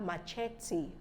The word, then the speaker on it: machete: my own research that end with e but the E is sounded yes the E is sounded both as e sound so we have bonafide Bonafide that's the e sound and we have machete not Bonafide I'm a